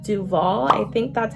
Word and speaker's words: Duvollé: send this wand to me, and it's called Duvolle. I think that's how you say it. It's Duvolle, D-U-V-O-L-L-E.